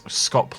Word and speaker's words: scop: Sk sounds like sh, so you pronounce scop like shop.